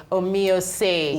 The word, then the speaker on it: Omoye: name as we were just chat so let's pronounce that name again okay it's called OS omio okay but like if it was it's actually